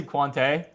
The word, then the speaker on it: Quante: I say Quante, but it really doesn't matter.